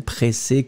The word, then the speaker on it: pressé: So, impatient is the first option, and then pressé could be totally acceptable. Pressé, remember, you will have to put this extra E in the end that you won't pronounce.